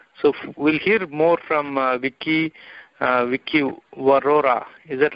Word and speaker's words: Viki Vaurora: So we'll hear more from Viki Vaurora.